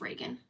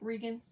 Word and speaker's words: Regen: a little this Reagan my name is just Reagan I know it's spelled a little weird but it's just enough